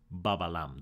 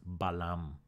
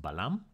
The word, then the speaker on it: balam: So this is not pronounced babalam, this is pronounced balam.